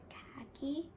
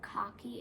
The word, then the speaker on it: khaki: In American accent, we say like khaki instead of cocky. It's khaki. Okay, then there's a word via, VIA, via.